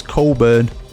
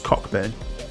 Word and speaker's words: Cockburn: It's spelt like that, but he tries to say his name's Coburn. It's not, mate, is it? It's Cockburn. It is.